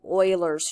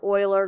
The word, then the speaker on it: Euler: what it comes down to is something called Euler's formula and that this is a very prolific mathematician Leonard Euler that's not pronounced Euler it's pronounced oil or at least that's what I've always been told